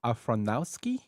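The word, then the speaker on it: Aronofsky: Afronowski.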